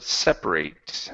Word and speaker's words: separate: practice is the word separate. Uhhuh. Uh where do I go? Separate. Right here. Okay. Instead of se um separate putting the stress on the end, the stress is at the very beginning.